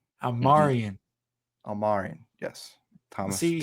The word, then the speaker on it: Almirian: I'm Almarian, yes.